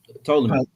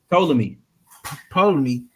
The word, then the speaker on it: Ptolemy: Ptolemy. You said it again? Ptolemy.